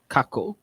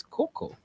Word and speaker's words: cacao: version of cocoa oh you were saying it's not coco coco for anyone it can't be coco taco cacao great yes you won